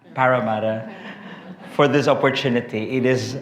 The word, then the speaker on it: Parramatta: And to the Diocese of I can't even pronounce my fellow the Filipino enemy, Parramatta. Is that correct? Cuz I said I thought it's Parramatta. Parramatta.